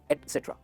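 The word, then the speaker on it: et cetera: एटसेट्रा दोस्तों ये गलत प्रोनाउंसिएशन है, इसका सही प्रोनाउंसिएशन है एटसेट्रा, एटसेट्रा।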